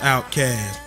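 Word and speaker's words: OutKast: Outcast, pronounced outcast.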